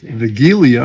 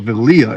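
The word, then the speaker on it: Wigilia: And talking to um Selena, I found out that they again pronounced their Christmas Eve as Vigilia as opposed to Valia as we said it.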